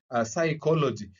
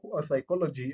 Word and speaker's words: psychology: For example, we have words like, psychology. So if you look at how psychology is spelled, you realize that it is starting with the letter P, and the letter P is is silent.